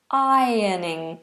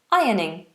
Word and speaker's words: ironing: do you pronounce ironing ironing is a silent r i and it's almost got a y sound in the middle iron ironing okay hope that helped